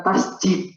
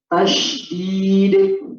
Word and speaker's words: tasydid: Bacanya bukan tasjid tapi tasydid.